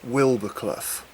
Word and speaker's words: Wildboarclough: However, a local friend of mine has always pronounced it Wildbourclough, so I'm presuming that is the correct pronunciation.